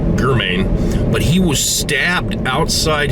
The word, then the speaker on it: German: looking for a suspect spelled german g-e-r-m-a-n but apparently he pronounced it germain but he was stabbed